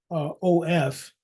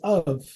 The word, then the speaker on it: of: move that aside but the pronunciation for o f is of you say of so then what sound is the F making the f is making the V sound so V is also